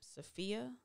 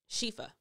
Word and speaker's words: Shifa: But, you know, I tried still not to, you know, in the spirit of, how do you pronounce her name? Sophia? Shifa.